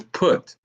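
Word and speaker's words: Phut: North Africa is Foot, not F-O-O-T, but P-H-U-T. Some people will pronounce it as put, but it's P-H-U-T. And then you have them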